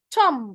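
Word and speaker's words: tomb: tom حرف البي ما بيتنطقش يا سنة ستة.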